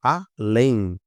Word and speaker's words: além: Olha só, além. A última sílaba é a mais forte, olha só.